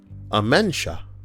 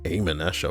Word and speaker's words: Amensha: Amenesha. What a, I'm so used to, we're programmed when we see the word amen. or, you know, to say it like that. But the word is, of course, amensha.